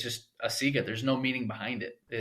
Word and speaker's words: Asiga: here to talk about a printer called asiga which i'm sure is mispronounced a lot too we get asiago yeah i get a seizure a seagull probably honestly the the funniest one is when they call it the asiago like like we're selling